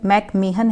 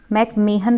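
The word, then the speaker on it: McMahon: ठीक है, भारत की चाइना से लगने वाली सीमा रेखा का नाम है मैकमेहन, इसका प्रोनाउंसिएशन मैकमेहन है, मैकमेहन रेखा।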